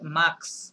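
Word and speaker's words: mars: ওকে খান্তন আচ্ছা এটাকে মার্কস এটা টোটাল উচ্চারণ হ্যাঁ এইটার এসটা সহ উচ্চারণ হবে এখানে কোনো সাইলেন্ট নাই মার্সে বলেন মার্কস মার্কস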